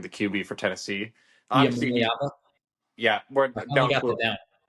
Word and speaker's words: Iamaleava: Obviously, Iamaleava? yeah. We're I finally down got to that down. It only took me 2 weeks. say it again. How do you say it? Iamaleava?